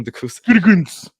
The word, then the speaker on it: Gutekunst: Gutekunst or good? Gutekunst. There you go, Gutekunst.